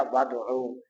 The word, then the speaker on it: وَادْعُوا: واو لے کر آئے، اور جو حمزہ وصلی تھا اس کو تلفظ کے اندر پڑھنے کے اندر حذف کیا تو یہ بن گیا وَادْعُوا، اگرچہ یہ کتابت کے اندر موجود ہے۔ تو اسی کے ساتھ